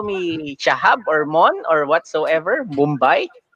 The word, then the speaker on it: Shahab: So Shahab. That's the proper Shahab.